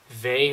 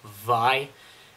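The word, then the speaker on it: Vay: up would be uh V or as I found out not too long ago it's pronounced VI and basically this is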